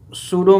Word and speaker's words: pseudo: सूडो force, सूडो में आपका P silent है।